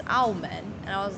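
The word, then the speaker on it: 澳门: But then Macau is Aumen.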